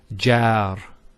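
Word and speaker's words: جار: So if you remember in the lesson on the long vowels, when we have an fatha followed by an Alif, it's a sound. So we say jar.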